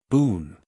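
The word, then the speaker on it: Bohun: Boone. Mr. Boone. He is a stranger to Mrs. Clandon, so he may give you a card. If so, the name is spelt B-O-H. U-N.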